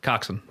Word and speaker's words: coxswain: It's spelled Coxswain and pronounced Coxswain. I hate it. I had to go back and just say like a sentence with Coxswain in it and Gunnel in it like 3 times.